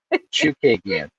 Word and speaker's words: Chookagian: I wasn't pronouncing the H. Chookagian.